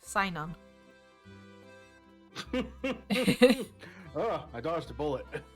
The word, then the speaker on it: Cynon: But it's spelt with a C. It's Cynon. Synon.